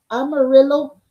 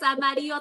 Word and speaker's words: Amarillo: Aquí está una artista bien bonita del estado de Amarillo. I was gonna say Amarillo. That's how you say it, girl. I know when I say it, like, no, that's a color. No, it's Amarillo, Texas.